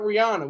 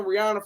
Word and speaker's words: Rihanna: to say her name her name is Rihanna not Rihanna we've been saying Rihanna for the longest it's Rihanna and that's what they're trying to do they're trying to say that Rihanna is g to be